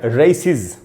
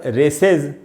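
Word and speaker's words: races: अगर एस लगाएंगे तो इसका उच्चारण हो जाएगा रेसिज। इसका उच्चारण रेसेज करके नहीं हमको करना चाहिए, रेसेज नहीं होगा दोस्तों, रेसिज इस प्रकार से उच्चारण करेंगे।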